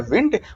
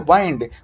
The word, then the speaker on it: wind: तो वो होता है विंड, और विंड का मतलब होता है हवा। लेकिन WIND को वर्ब के रूप में बोला जाए तो इसका उच्चारण होता है वाइंड।